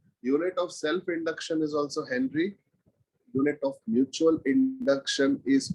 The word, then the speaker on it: henry: Actually, it is pronounced as Henri. Okay, French name Henri, Henry.